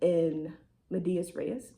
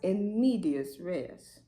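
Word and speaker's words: in medias res: I'm going to start right in the middle in medias rees. Hold on. Wait. Okay, I looked it up. It's actually pronounced in medius rees, which just means in the middle.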